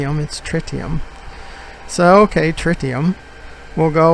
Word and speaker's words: tritium: trite trick tiem that's what frontier says the pronunciation of tritium is it's not try t emits tritium so ok tritium will go over twice as